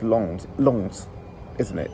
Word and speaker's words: Lens: Lens, or is it pronounced Lons? Lons, isn't it? It's French pronunciation, so it's going to be Lons.